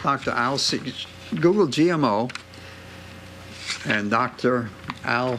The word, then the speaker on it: Sears: Al Sears. Google GMO and Dr. Al Sears. That's Can you spell that for us? S-E-A-R-S, just like the store.